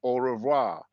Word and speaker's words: au revoir: you know I guess with the American or English accent you will pronounce it like au revoir you know the r is different but oh it's basically